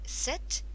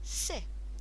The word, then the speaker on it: c'est: C'est means it is, and remember in French we can be a bit lazy at the end. We don't need to pronounce that last letter. So we don't say c'est, we say c'est.